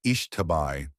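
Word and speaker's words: Xtabay: They have extensive folkloruric traditions and one of the spookier ones that stuck with me is about Lakabai, pronounced Ishtabai, a female demon who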